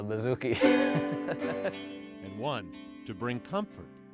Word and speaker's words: bouzouki: Rhymes with Suzuki, but it's called a bouzouki.